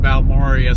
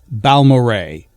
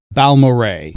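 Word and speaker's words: Balmorhea: It's not pronounced as you see their names together, but rather as the name sounded. So, it's Baloray. My apologies, but now we know. Balmoray.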